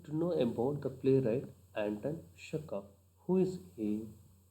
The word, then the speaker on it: Anton Chekhov: Anton Chekov. At the end it ends with V, but it should be pronounced as F. Anton Chekov.